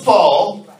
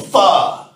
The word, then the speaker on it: pho: I'm like, boy, it's not pronounced a Faux. It's pronounced a pho.